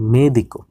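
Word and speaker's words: médico: তারপর মেদিকো, মেদিকো মানে হচ্ছে ডাক্তার, বলিগ্রাফ কলম, আপনারা উচ্চারণগুলো খেয়াল রাখবেন, মোবিল মোবাইল, দেখেন আপনারা তাহলে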